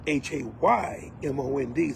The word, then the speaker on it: Haymond: My name is spelled Haymond, so it's different. Pronounced close to the same, but not quite.